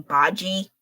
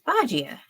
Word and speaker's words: Bajie: not too noisy please I actually hear some people pronouncing his name baji that's not correct it's bajia okay well maybe the tones I have is wrong I can admit that but for sure it's not bodgy okay that's for sure